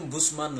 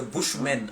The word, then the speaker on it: Bushman: Bon, en fait, le terme Bousman là, c'est les gens qui prononcent mal. Sinon, c'est Bushman en anglais, Bushman.